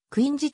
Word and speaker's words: Quincy: 認定されたなおクイーン c は本来はクイーン c ではなくクイン子と発音されるが日本語ではクインシーと表記することが慣例と